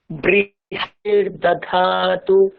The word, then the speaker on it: बृहस्पतिर्दधातु: দেখুন আমাদের বাংলা ভাষা টান চলে আসছে এখানে, বৃহস্পতির দাধাতু, বৃহস হয়কার নেই এখানে। ওকে, বাংলায় বললে ঠিক আছে, সংস্কৃতে বললে বৃহস্পতির দাধাতু, বৃহস্পতির দাধাতু, এরকম একটা বলতে হবে, বৃহস্পতির দাধাতু, বৃহস্পতির দাধাতু।